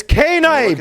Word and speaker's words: Knight: It's K-Knight, bro. I know it says Knight, but it's K-Knight, bro. Okay? They have pronunciation on their names how they want.